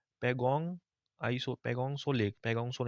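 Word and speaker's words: Pangong Tso: अब वहां पे लेक जो है उसका नाम है पैगोंग आइसो पैगोंगसो लेक पैगोंगसोर यहां पे टी जो है साइलेंट है।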